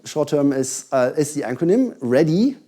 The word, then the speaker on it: RHDE: So I did, which is with RHDE, short term is the acronym, "ready", if you pronounce it in an American style it gets "ready", that works nice.